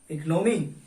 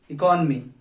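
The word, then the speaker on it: economy: क्या बोलते हैं आप इसको? इकोनॉमी। इट्स रॉन्ग, आप लोगों को इसे बोलना होता है इट्स इकोनॉमी, इकोनॉमी, इकोनॉमी।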